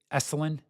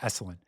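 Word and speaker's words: Esalen: Eselin. Sorry, I mispronounced that. Esselin.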